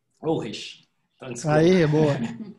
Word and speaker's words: Ulrich: É assim mesmo que pronuncia, Fernando? Ulrich. Ulrich.